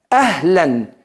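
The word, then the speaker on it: أهلاً: Ahlan. ¿Qué es la palabra ahlan? Ahlan es así. A y una ha concún es una sílaba. Ah. Ah. Así tal cual.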